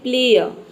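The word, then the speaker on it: player: ये साइलेंट रहता है क्योंकि किसी भी वर्ड में अगर आर से पहले कोई वावल आ जाता है तो यहां पे हम आर लेटर को प्रोनाउंस नहीं करते हैं आर लेटर साइलेंट रहता है तो देखिए यहां आर से पहले ई आया है ई क्या है वावल है इसलिए यहां पे हम केवल बोलेंगे प्लेयर और अब यहां पर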